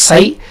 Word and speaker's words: psi: So flux linkage or psi, it is pronounced as psi.